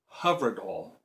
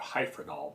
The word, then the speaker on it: Hyfrydol: By the way, it's a Welsh word, and I read that it's pronounced HYFRYDOL, not HYFRYDOL, but we generally call it HYFRYDOL.